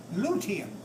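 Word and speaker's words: luteum: body like corpse Corpus it's Latin Corpus litium l u t u m what is litium y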